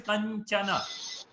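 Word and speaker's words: काञ्चन: So that's why it is kanchana. Kanchana. It is not kamchana or kanchana. It is not that. It is kanchana. The nasal sound should follow the next consonant. Okay, then only the pronunciation is correct.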